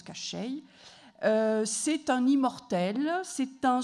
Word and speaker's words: Koschei: Alors, on prononce Koschei.